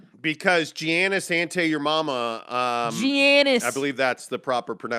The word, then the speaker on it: Giannis: Giannis. I believe that's the proper We pronunciation.